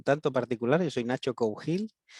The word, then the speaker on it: Cougil: Y es curioso porque además en Galicia hay muchas veces que la G se pronuncia X. Entonces mi apellido se acaba nombrando como Nacho Cougil con una X.